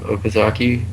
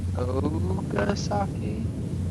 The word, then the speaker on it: Okazaki: So, is it Ogasaki? I'll have to spell it. Okazaki.